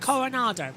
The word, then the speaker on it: Coronado: That's how you say it, Coronado.